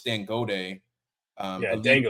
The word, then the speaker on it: Dangote: I don't know if I'm forgive me if I'm pronouncing his name wrong, but Dan. I know it's Dan Gode, Yeah, a leader. Dangote, I believe.